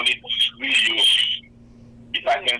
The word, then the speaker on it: griot: We call it griot. If I can spell it for you, GRIOT.